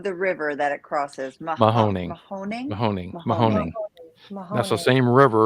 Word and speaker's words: Mahoning: you pronounce the name of the river that it crosses? Mahoning.